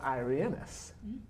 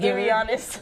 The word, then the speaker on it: Irianis: And I have Irianis. I said it right? Yeah. Yeah? No, you didn't. No, it's Irianis. Irianis.